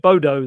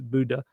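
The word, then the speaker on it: Bodø: But yes, I'm hearing, as the lady at Passport Control told me, Bodo, like that, something like that. She did the pronunciation better because she's Norwegian. But yes, I was calling it Bodo the whole time. I was apparently being completely wrong. It is Buddha.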